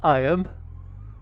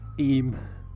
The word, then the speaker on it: Eyam: go yes I know it says I am but it's pronounced aim welcome to the historic